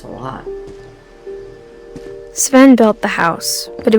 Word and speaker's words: Sven: Uh, I'm going to pronounce it wrong again. Sivven 7, not 7, but Sven Finch, born June 17th, 1915, died August 26th, 1964.